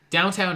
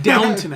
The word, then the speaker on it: Downton: Downtown Abbey. I guess they're making a Downtown Abbey movie. Who cares? It's Yeah. Downton Abbey.